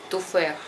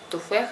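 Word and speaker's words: تفاح: И вот последнее х, вы не говорите туфех. То есть у них ха, вот это, она более как бы ха, мягкая, туфех.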